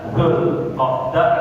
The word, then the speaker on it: Dzulqa'dah: Dzulhijjah ya pakai Z, ya, tapi kita bacanya Dzulhijjah, Dzulqa'dah atau Dzulqa'dah.